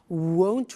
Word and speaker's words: won't: Won't, remember the difference between will not, won't, and want, won't, want.